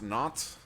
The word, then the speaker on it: Nantes: That's how it's pronounced. Nantes Esport, or Nantes Esport.